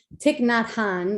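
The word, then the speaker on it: Thích Nhất Hạnh: that happens in life so this is by tiknot han that's how you pronounce his name and it's called the art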